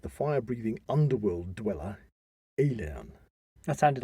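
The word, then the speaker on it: Aillen: fire breathing underworld dweller alien that sounded like alien it sounded like alien but it spelled a-i-l-l-e-n and one alien way of saying that well so he faced the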